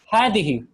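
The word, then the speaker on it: هذه: Same with hadihi. So there's no alif written after the ha. So it's written like ha, fatha, dal, kasra, ha, kasra. But when you're actually reading it, when it's being pronounced with an alif. So this is pronounced as hadihi.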